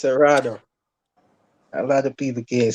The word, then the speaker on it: Seratuh: It's Serrato. A lot of people can't say it. Seratuh. Usually Americans find it hard to pronounce it, but they could call me.